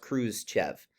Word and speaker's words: Khrushchev: khrushchev all right you can see how it's pronounced cruz chev all right so nikita khrushchev here there are